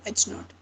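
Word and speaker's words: H₀: We pronounce it as h naught.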